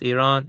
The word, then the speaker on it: Iran: Iran, it's pronounced Iran.